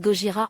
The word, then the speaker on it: Gojira: Pour des raisons de droits d'auteur, Godzilla doit changer de nom et se rebaptise Gogira en 2001 qui est la prononciation japonaise du nom du célèbre monstre.